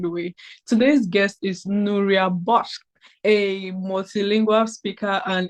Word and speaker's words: Nuria: I feel like I'm not pronouncing your name correctly. Am I? Nura. Nura. Nura.